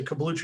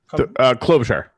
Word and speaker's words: Klobuchar: I haven't looked at what the results are in, but like say Kablucher or Kabluchar. How do you say it? Klobuchar.